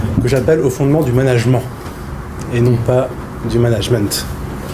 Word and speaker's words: management: en main et donc il aucune raison de prononcer ce terme à l'anglaise si ce n Une c'est com moin en disant management on voit tout de